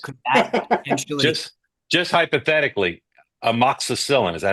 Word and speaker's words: amoxicillin: Just hypothetically, amoxicillin, is that how you pronounce that?